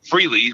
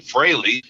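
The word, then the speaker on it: Frehley: Freely, which is correct back then. sometime around the mid80s got down amongst everybody that we we needed to pronounce it Freley and I think it's because he had that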